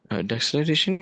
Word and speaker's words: deceleration: Deceleration या deceleration? Pronounce अपनी मर्जी से कर सकते हैं, कोई मसला नहीं है, दोनों प्रोनाउंसिएशन चलती हैं।